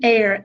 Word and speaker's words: Eyer: Yeah, it's pronounced Eyer, Eyer. Eyer, okay, Eyer. Which is why we spelled it, because it would sound like it's spelled a different way. So Eyer is Eyer. Yeah, like I see you.